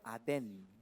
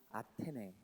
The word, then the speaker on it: 아테네: 저기를 성경은 아덴, 네? 원래 발음은 아테네, 아덴.